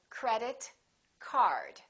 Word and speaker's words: credit card: one thing for example credit card credit card two words representing one object we stress the first word repeat after me credit